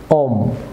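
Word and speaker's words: womb: Viewers যেমন be silent থাকবে, এটি বি, থাম। অবশ্য বলুন থাম। যেমন লিম, ভিউয়ার্স লিম। যেমন ওম, যেমন সাখাম, নট সাখাম।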